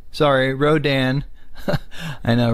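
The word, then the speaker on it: Rodan: on over here to the beauty himself uh radan sorry rodin i know right probably going to drive you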